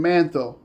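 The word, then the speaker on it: Manetho: This is recorded by the Egyptian historian Mantho. I'm a follower and a student of manthos spelled m a ne t h o.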